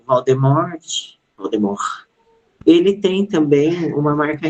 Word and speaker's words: Voldemort: verdade, eu descobri que a pronúncia não é Voldemort, não tem o T, né? A pronúncia seria Voldemort, né?